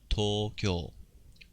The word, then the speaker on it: Tokyo: Alright, so notice we got a long U sound here. Tokyo. Tokyo じゃなくて Tokyo. Okay, 次行きましょう.